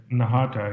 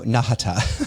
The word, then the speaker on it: Nahata: last name correctly yeah that's perfect nahata yeah I feel like it's a short ah right so nahata exactly Shri uh was a